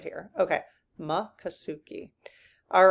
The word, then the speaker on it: Miccosukee: Makasuki. Makasuki. Makasuki. Okay. I think it's just in one, but I want to out of respect, I want to try to get it right here. Okay. Makasuki.